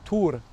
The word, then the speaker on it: Thor: Thor prononcé ici. Tour, c'est le fils d'Odin par 4 toujours.